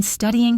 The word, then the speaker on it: studying: Now for number 2, she's been studying for hours. Here, for is unstressed, so it becomes fur. And notice the stress is on the first syllable of studying.